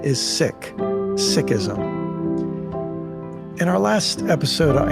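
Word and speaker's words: Sikhism: friend her name is Valerie core many people pronounce the name of her religion as seism but Valerie taught me that its proper pronunciation is sick sism in our last episode I introduced you to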